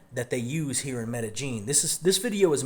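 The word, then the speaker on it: Medellín: Medellin that's another difference it's it's not the yin sound it's more like a j it's Medellin but the slang that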